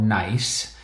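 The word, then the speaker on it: gneiss: And this is an example of a rock called nice, which is spelled with a G, G N E I S S. Two S's at the end.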